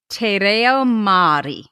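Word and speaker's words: te reo Māori: researching her family history and learning irish and tay rio mari okay how do you pronounce that te reo maori te reo mari fantastico okay te reo mari the language of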